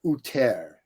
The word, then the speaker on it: Utter: It's actually Utter. You have to roll Utter.